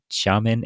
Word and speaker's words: Xiamen: Is it Xiamen Air? Is that the correct pronunciation?